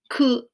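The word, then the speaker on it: 九: like the number nine this number also has a second name it can also be pronounced ku ku and finally we have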